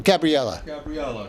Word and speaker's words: Gabriella: Is that how you pronounce her name? Gabriella? Or Gabrielle? Gabriella.